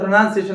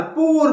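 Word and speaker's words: poor: कैसा प्रोनाउंस किया जाता जैसे कि पूर है पी डबल आर परर परर बोलते बट एक्चुअल प्रोशन क्या है प पुट ही इ अ पुर गाय दे आर पुर उसको परर बोलते सो हाउ वी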